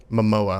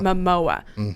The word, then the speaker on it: Momoa: whole discussion got going because tell me the pronunciation of his name again Matt Jason Momoa Momoa and he's from Aquaman he's Aquaman he's from